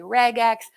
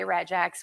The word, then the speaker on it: regex: to abbreviate abbreviated regex some people say regex I don't care how you say it I say regex with soft G um the thing about